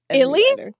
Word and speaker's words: ILY: I have never heard anybody pronounce Illy? Oh, yeah. That's all we say. Illy, Illy, Illy.